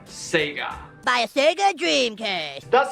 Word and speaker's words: Sega: Sega while growing up it's a Japanese company and you pronounce their name Sega buy a Sega Dreamcast